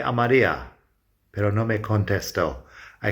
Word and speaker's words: Contestó: Llamé a María, pero no me contestó. I called Maria, but she didn't answer. No problem there. Llamé has an accent on the E. Contestó has an accent on the O.